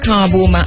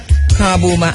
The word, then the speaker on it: Kabu: By the way, Kabu is spelled K-A-B-U, and is, so it's Kabu with a K, K-A-B-U.